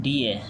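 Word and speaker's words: die: बी आई डी का मतलब बीस इन डीए। ये जो डाई लिखा हुआ है वर्ड इंग्लिश में प्रोनाउंस करोगे तो ये डाई आएगा। लेकिन लेटिन में प्रोनाउंस करोगे डी ए कहा जाता है इसको।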